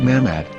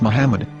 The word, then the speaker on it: Muhammad: yehuda's Hebrew English dictionary it is correctly pronounced as Muhammad not mammad so how we're going to know for sure if it's pronounced as Muhammad the Muslim Prophet or